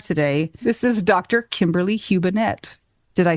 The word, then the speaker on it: Hubenette: Kimberly Hubenette.